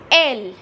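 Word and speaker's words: elle: EL, and again we will put an L, and it becomes, the pronunciation is L in French, which the meaning is it.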